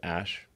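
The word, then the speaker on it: Æ: And then the AE is like pronounced Ash.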